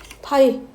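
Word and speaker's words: ∅: 기호를 이렇게 쓸 거야 읽을 때는 파이라고 읽습니다 파이 원주일 파이가 아니라 여기서 나무 것도 없다는 뜻에 파 자 그럼 여기서 이제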